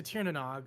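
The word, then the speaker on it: Tír na nÓg: Princess Princess Stagire tried I know how to pronounce that. It's Tanog to Tieranog without marrying anyone and had a baby with the sun lug while there.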